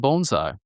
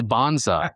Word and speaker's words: bonsai: "Oh, we're doing bonesai." And she was like, "I think you're mispronouncing it. It's bonsai."